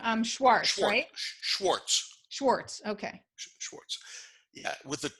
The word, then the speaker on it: Schwartz: to say that but Schwartz is the way the Jewish people pronounce it right and quartz is